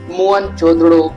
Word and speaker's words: मोहनजोदड़ो: इतिहास के बारे में मोहन जोदड़ो शब्द का सही उच्चारण है मोहन जोदड़ो और सिंधी भाषा में